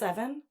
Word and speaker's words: Even: You think it's Evan? It says pronounce E-V-E-N.